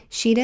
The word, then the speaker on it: Shideh: Sheeta is spelled Shideh, and is spelled Shafie.